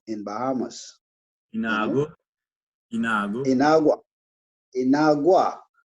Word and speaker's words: Inagua: Yeah, man, that bring back a lot of memory because he was born in an island called Inagua in Bahamas, you know. Inago? Inago? Inagua, Inagua, How you spell that?